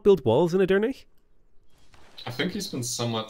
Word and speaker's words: Edirne: You need to pronounce the E at the end, so it's Edirne. Okay. Why doesn't he have walls in here? Would you not build walls in Edirne?